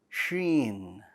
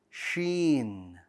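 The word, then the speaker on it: شين: Also, the Sheen should not be pronounced like a ch sound, ch. It should be a sh, Sheen, sh sound.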